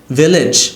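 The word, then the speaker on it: village: ইট is very pretty তো আপনার ঠোঁট মিলবে না তাহলেই ভি উচ্চারণটা হবে অলরাইট আর ভেচ্ছে ঠোঁট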